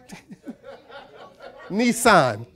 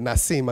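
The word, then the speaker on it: Nisan: not come on Nim am I saying it right Nissan like the car I said it not seem I got the letters backwards the Devil is a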